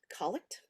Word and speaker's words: collect: a collect for evening it's spelled like collect but it's collect they're prayers collects are